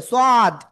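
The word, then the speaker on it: صاد: অনেকে বলে সদ না সদ। চার আলিফ টান। কয় আলিফ? চার আলিফ। সদ সদ। ঠিক আছে সাদ জন্য বলে ফেলেন না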